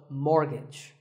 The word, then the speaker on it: mortgage: So which letter is silent here? It's the T. The first syllable is mor and the second is gij, so mortgage.